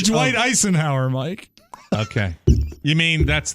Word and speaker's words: Eisenhower: It's Dwight Eisenhower, Mike. Okay. You mean that's the performer? Yeah, but it's spelled ice like in a drink.